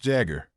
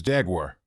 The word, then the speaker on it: Jaguar: the brand I'm going to introduce today is pronounced Jagger but I've heard others pronounce it as Jaguar how do all of you pronounce it the